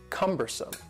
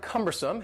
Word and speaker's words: cumbersome: The next word is cumbersome. The word cumbersome has 3 syllables, and the stress is on the first syllable.